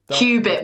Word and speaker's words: qubit: No, Andy put Q dash bit, which is BIT.